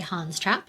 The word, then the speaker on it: Hans Trap: Is that how you would pronounce it? I would say Hans Trap, yeah.